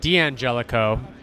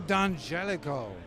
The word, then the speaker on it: D'Angelico: do you pronounce it well we all say d'angelico which is I find correct but the real correct way to say d'angelico as d'angelico I love the dun Jellico that sounds much better can we do that d'angelico you could say d'angelico hey alright so so